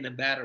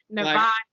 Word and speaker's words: Nevada: my ears is because they kept saying Nevada wrong. Oh. Nevada. Nevada. I'm like, bro, you're not from Nevada. You keep saying it wrong.